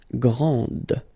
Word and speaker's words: grande: Okay, so grand, and then the feminine form, grande. Okay, so you put this E, and then you get the sound D, D, grande.